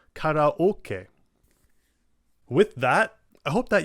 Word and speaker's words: karaoke: It's not karaoke, it's karaoke.